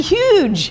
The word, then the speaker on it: Huyghe: It's Brewery Huyghe from Belgium, and they make Delirium beers, and